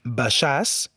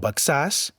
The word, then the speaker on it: Baixàs: Així pronunciarem Baixàs i no Baxàs, Marquixanes i Sant Miquel de Cuixà.